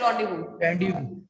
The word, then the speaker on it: rendezvous: November 15, Randy was with the comet नीचे लिखा हुआ है, just see the, yes, see here, pronounced as rendezvous.